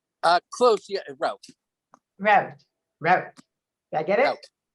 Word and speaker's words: Rauch: Did I pronounce that right? Rauch? Close, yeah, Rauch.